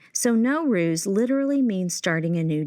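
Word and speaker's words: Nowruz: Like the Persian word N O W pronounced no means new. And the word r U Z ruse means day. So no ruse literally means starting a new day.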